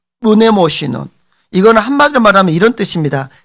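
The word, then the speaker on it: μνημόσυνον: 발음이 좀 어렵죠. 자, 무네모시논.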